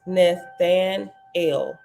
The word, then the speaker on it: Nathanael: Nathaniel is Nazarene Hebrew for Elohim has given, and is pronounced Nathanael.